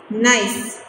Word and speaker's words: gneiss: And third one you have to pronounce nice, G silent.